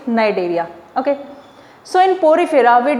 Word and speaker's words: Cnidaria: C is silent, you will pronounce it Cnidaria.